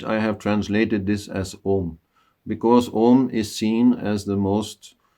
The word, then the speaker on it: Om: But if we say Om in the right way, which is not well, here a lot of tension is there, when we say and then coming by closing the mouth, then that is the correct way to say Om.